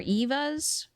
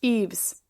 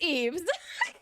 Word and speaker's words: eaves: So I was right. It's like under the roof. How do you pronounce this? Eaves. It is Eaves.